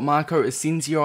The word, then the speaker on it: Marco Asensio: another player objectives guide so today we've got marco ascencio i believe it's pronounced and he is another la liga league